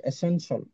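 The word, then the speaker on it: essential: যেমন এসেনশিয়াল, এসেনশিয়াল সারা জীবন পরে আসছি, উচ্চারণ করে আসছি, এটার উচ্চারণ হবে এসেনশিয়াল, এই জায়গাটা হবে শল।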